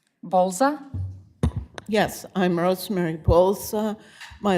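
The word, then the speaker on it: Bolza: The first person that I have is Rosemary I think BS Bza Bza. Yes, I'm Rosemary Pulsa. My last name is spelled B as in Bravo, O L.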